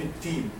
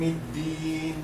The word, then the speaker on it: الدين: So a dal should be separated from a ta. Do not say Malik Yawm al-Teen. Some people they are pronouncing like teen, and this is not right. Malik Yawm al-Din.